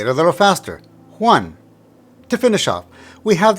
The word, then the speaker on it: Juan: emphasize the strong vow in this case a is the strong vow so you pronounce it one now say it a little faster one to finish off we